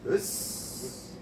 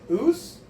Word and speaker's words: osu: us. Is it oos? So it's like us. Oos. Yeah. It's spelled OSU. Like so. Okay. But it's kind of a us. So it is kind of a os.